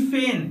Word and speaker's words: feign: तो फ्रेंड्स उम्मीद करता हूँ कि आपने इन दोनों वर्ड्स के बीच के डिफरेंसेस को समझा कि फेन जिसका स्पेलिंग FEIGN, इस वर्ड का मतलब होता है झूठा बहाना करना या ढोंग रचना या झूठा दिखावा करना।